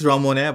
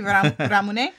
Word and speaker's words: Ramune: we're pronouncing correctly hopefully i guess ramon but based on youtube it should be ramune it's from japan yes